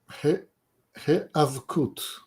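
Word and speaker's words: היאבקות: He'avkut.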